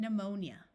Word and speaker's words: pneumonia: type of flying dinosaur word starting with PN also have a silent P like in pneumatic e says o and pneumonia there are words with